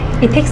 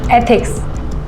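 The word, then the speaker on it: ethics: इथिक्स नहीं, एथिक्स, ऐसे pronounce करो।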